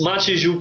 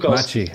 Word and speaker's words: Maciek: say your name again Machi I can't it's Machi Machi yeah I'm going to get AR Ray one